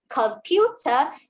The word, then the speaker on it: computer: You be confident and say it's a hard C sound in the word computer because the C is not followed by a E, I, or Y.